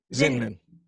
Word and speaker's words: Zinman: Zinman. It's Yeah. like Invader Zin.